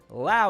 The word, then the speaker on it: Lowe: Brandon Lau. It's crazy how it's Lowe and Lau. They're both spelt the exact same way, but you pronounce it different.